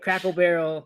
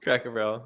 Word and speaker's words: Cracker Barrel: and I'm beginning to learn yours with a Crackle Barrel Cracker Barrel and he's gonna say all these instead of